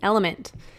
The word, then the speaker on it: LMNT: of our sponsors LMN element it's spelled lmnt but pronounced element if you haven't heard